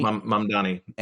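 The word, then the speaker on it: Mamdani: name Donnie Zon Mandani mom Donnie like the the easiest way to think of like mom like hi mom and Donnie like mom Donnie Donnie against who's like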